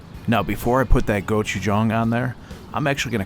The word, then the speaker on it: gochujang: It's actually pronounced gochujang.